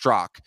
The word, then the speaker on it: Straka: and i'd be like oh it's actually pronounced strzok you know and they'd be like but it's spelled straka and i'm like yeah it's spelled soraka but it's pronounced and then so you